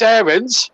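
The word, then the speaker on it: Aarons: laugh about don howe max aaron's to give him his proper pronunciation well i'll try and say errands but it's very hard to kick in habit of a lifetime it's pushed down raheem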